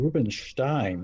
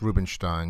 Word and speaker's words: Rubinstein: i can read russian it looks like they actually pronounced his name rubenstein it's got rubenstein yeah that's a correct